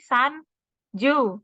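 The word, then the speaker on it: 三十: depannya berbeda-beda kan Nah untuk 30 berarti 3 kan sang tadi ya 3 sang terus nih 3 sang 10 juz jadi kalau mau bilang 30 berarti San Ju gitu terus 4 juga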